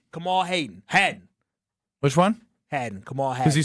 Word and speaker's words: Kamal Hadden: Kamal Hadden.